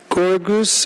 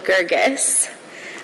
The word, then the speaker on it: Gergis: thank you and now we hear from gorgoose i'm sorry please correct me in pronunciation of your name hello my name is gergis i am the executive